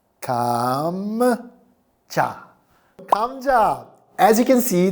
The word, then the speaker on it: 감자: So you get M, and then J from jump, and You put them all together and you get 감자.